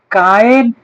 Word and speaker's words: കായേൻ: അപ്പോൾ ആദ്യത്തെ സ്ത്രീ പുരുഷ ബന്ധത്തിൽ ആദ്യത്തെ പുരുഷപ്രജയായ കായീൻ, അതുകൊണ്ടാണ് ഹൗവ അങ്ങനെ പേരിട്ടത്. യഹോവയാൽ എനിക്കൊരു പുരുഷപ്രജ ലഭിച്ചു എന്ന് പറഞ്ഞ് കായേൻ, കയീൻ എന്നല്ല, മലയാളമാണ്, കായേൻ എന്നാണ് ഹീബ്രുവിന്റെ ഉച്ചാരണം.